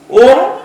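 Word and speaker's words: ওঁ: এটা উচ্চারণ করতে গেলে অ উ ম এর উচ্চারণ হয়, ঠিক আছে।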